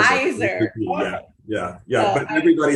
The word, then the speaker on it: Zaiser: I looked at it, I realized it's Zaiser, just like Kaiser. Zaiser.